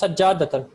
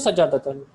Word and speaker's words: سجادة: سجدة. No, it is Sajjadatan. Sajjadatan is carpet. Pay attention, Adnan. How do you say, I want a carpet? Uridu? سجادة. Uridu Sajjadatan.